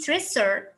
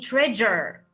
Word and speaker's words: treasure: s and the u it will give you the sound ja and this word it will not be tracer it will be treasure treasure so is and